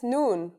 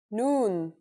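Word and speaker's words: نون: I in Arabic that's noon the noon is pronounced just like the English n pretty easy right it's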